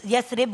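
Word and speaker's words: يثرب: यस, वैसे यसरिब होता है सही प्रोनाउंसिएशन। अभी हम मेरी भी ठीक की है उन्होंने।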